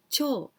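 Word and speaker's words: てふ: 手ふ But in the ancient poem, this tefu we must pronounce cho. So that's why I say koromo hos cho.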